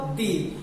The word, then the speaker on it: the: Second है definite articles, और definite articles होता है आपका दी, और कुछ लोग उसे द प्रोनाउंस करते हैं और बहुत से लोग उसे दी प्रोनाउंस करते हैं।